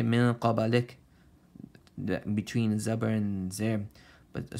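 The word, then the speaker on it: مِن قَبْلِكَ: Min qabalik. And give a little bit of e sound at the end. Some people they say min qabalik.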